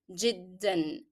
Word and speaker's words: جدًا: However, here in جدًا, though I'm stopping, I will not drop the sound of n. That's because it's a part of the pronunciation of the word. you cannot drop it. If you drop the sound of n here, the word will not be correct.